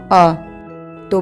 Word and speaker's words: अंत: जमा अनुस्वार जमा त इस तरह यहां पर अनुस्वार के बाद त व्यंजन आया है त त वर्ग का व्यंजन है इस इसलिए यहां पर पंचमाक्षर हलंत न का प्रयोग होगा और यही पंचमाक्षर अनुस्वार के रूप में परिवर्तित होता है आइए इसका वर्ण विच्छेद समझते हैं अ जमा पंचमाक्षर हलंत न जमा हलंत त जमा अ तो बना अंत आइए अब हम त